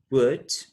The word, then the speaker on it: would: as in could should would remember that the l sound is not pronounced so we say could should would and of course we've